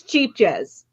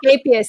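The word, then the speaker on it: Scheepjes: Scapius. Okay, because What? to me it was cheap jazz. No, it's Scapius. It's Dutch, and Anya from Ophelia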